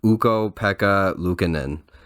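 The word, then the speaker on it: Ukko-Pekka Luukkonen: look up how to say his name but uko Pekka lucanen their their 23 year old goaltender is showing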